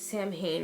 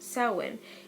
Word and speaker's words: Samhain: you so it looks as if it is pronounced Samhain and this actually pronounced soin and the term dates bats the ancient Celts